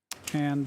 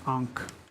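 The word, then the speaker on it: ankh: which is the column and means stability Jed ank is a combination where you have the an and uh Jed combined and it means like life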